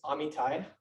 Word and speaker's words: Amitai: So my name is Amitai. That's how I pronounce it.